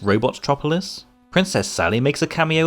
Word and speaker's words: Robotropolis: an appearance as the villains Hideout uh here pronounced robotropolis princess Sally makes a cameo appearance and the